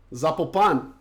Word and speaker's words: Zapopan: Zapopan.